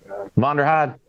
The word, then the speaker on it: Vonderheide: Vonderheide.